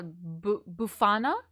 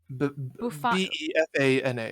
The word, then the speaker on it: Befana: I believe she was referred to as La Befana. That sounds familiar. La Bufana? Befana. Yes, yes.